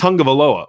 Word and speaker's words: Tagovailoa: Like, that's it's Tungavailoa. Well, I don't see an N in there. You know what I mean? Like, there's no N in his name, but there's an N in his pronunciation.